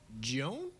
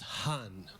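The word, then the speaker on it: Juan: So the cashier's always like, Joan? And I say it's pronounced Hun.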